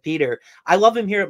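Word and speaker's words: Petr: Because it's a little different than it looks, said Peter.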